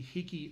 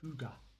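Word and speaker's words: hygge: our noest writer Emily Allen looks at the higy lifestyle now I'm not pronouncing that correctly whatsoever it's Norwegian and it's actually pronounced Huga it's about getting cozy so read the article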